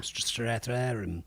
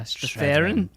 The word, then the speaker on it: Strathairn: Strathairn. Yeah, Strathairn.